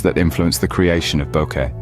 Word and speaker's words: bokeh: that has taken the photography World by storm Boke pronounced as Boke originates from a Japanese word which